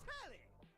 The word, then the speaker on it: Telly: Before we get to what's on my the name's Telly. Rhymes with Nelly. Like, whoa, Nelly. Did you know Telly offers 5,000 channels like an endless deli?